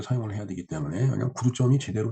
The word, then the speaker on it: 구두점: 한자로는 구독점이라고 쓰고, 근데 저도 이게 읽을 독자라고 생각을 하고, 구독점이라고 쓰고 구두점이라고 읽나 이렇게 생각을 했는데, 요 읽을 독자를 한번 자전에서 찾아봤어요. 그랬더니 두 자로도 읽더라고요. 그러니까 그 읽을 독자로도 읽지만 두자로도 읽는다라는 얘기죠. 그러니까 구두점이 맞는 거죠. 예. 이 단어에서 구두점이 맞습니다. 발음이. 그래서 구두점이라고 이제 발음은 우리가 하고 있죠.